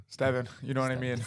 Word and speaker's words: Stevan: And today we're joined by Omar and Steven. Stevan, you know what I mean?